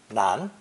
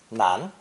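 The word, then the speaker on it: 男: land men and boys this character is pronounced second tone nan nan a boy or male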